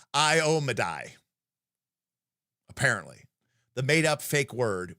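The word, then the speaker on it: Iomedae: I say Iomede. No. Yeah, I say Iomede. And apparently it's Iomedai.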